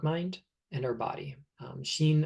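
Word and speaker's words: 心: and our body um Sheen and Sheen are written with two different characters um but they're pronounced the same Japanese is like that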